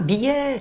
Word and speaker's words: billet: Comprends pas, billet. Avec un « et » ouvert, comme muguet, poulet.